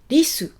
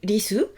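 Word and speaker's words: りす: Écoutez bien, je dis risu. Donc, mon RI en romaji, c'est pas risu. C'est pas non plus lisu, mais c'est un truc qui est entre et qui fait presque disu. Entre le R, L, D.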